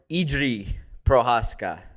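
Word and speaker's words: Jiří Procházka: out to pyotr milota who helped get the pronunciation correct for idri prohaska prohaska yes so he sent me the link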